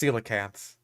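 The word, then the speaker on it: coelacanth: Um also yeah it's pronounced cilacants. A lot of people have trouble with the C O E being like a like a C.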